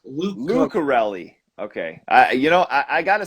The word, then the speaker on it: Lucarelli: It's Uh, Lucarelli. Lucarelli. Okay. I gotta say, man, I'm always big on pronunciations too.